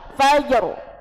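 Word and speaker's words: فجر: bacanya walfajr Nah betul padahal rnya itu harus tebal karena dia sifatnya sukun kalau sukun maka lihat huruf sebelumnya huruf sebelumnya fathah maka dia hukumnya te tebal ngoten Nggih nah sama ini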